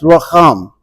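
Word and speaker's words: רחם: is a translation of a Hebrew word that is pronounced racham, which might not ring a bell, but it's the word that is sometimes also translated compassion.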